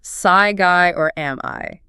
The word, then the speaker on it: Psyguy: For those trying to figure it out, it's pronounced Psyguy or am I? Psyguy or am I? Pretty clever, right?